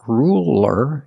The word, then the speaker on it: ruler: light L that's right it's a light L because it's between vowels so it's not ruler it's ruler ruler use a light L it's straighter ruler ruler and what